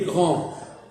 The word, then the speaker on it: grand: Et si je dis elle est Elle est grande, grande, je le prononce.